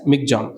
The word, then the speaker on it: Michaung: So this term is given by Myanmar, and it is pronounced as Michaung, cyclone Michaung, and the word means strength and resilience.